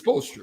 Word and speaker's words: Spoelstra: Do you think Eric Spoelstra, I want to pronounce the S, but it's Spoelstra, right?